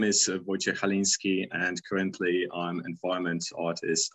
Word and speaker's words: Wojciech Chalinski: myself for you who are struggling with a pronunciation of my name my name is wojciech halinski and currently i'm environment artist at cd project